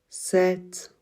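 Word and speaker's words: sept: j'arrive dans moi si 7 le 7 c'est une exception on l'écrit avec P t à la fin mais on ne prononce pas le P par contre on prononce le T 7 et comme la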